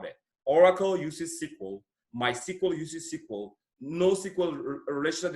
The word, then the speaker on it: SQL: you are used to we can say SQL but it is pronounced as sequel all right sequel it is a language